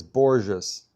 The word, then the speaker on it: Borges: Is it Borgus or Borgus? It's Borges.